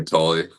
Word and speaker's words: Tolle: Yeah, Tolle. Tolle, sorry. Tolle. Yeah, so some of the names I'm still getting used to pronouncing.